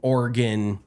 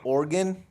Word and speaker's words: Oregon: Califor well you see said Oregon instead of Oregon or Oregon I can't stand when people say Oregon I'm like I think that's an East Coast thing they pronounce every single syllable um how do you